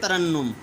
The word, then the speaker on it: ترنم: کے پڑھنا ہے۔ جی آگے دیکھیں ترنم، پہلے دو پر زبر، تیسرے کے اوپر شد اور پھر اس کے اوپر پیش۔ تخلص، تحمل، تدبر، تبسم، تجسس،